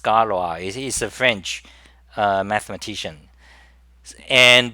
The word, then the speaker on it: Galois: It's supposed to be pronounced Scalois.